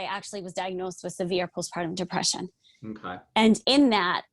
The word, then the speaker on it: postpartum: all right am i saying it right it's postpartum depression but you're very close i knew i